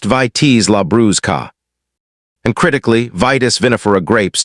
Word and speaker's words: Vitis labrusca: Concord grapes belong to a different American species entirely, called Vitis labrusca, pronounced Vitis labrusca.